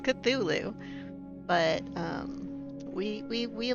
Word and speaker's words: Cthulhu: to play Call of kachulu I mean the subtitles get it the subtitles get it I said call of kachulu a lot of people must say it wrong cuz it's cthulu but um we we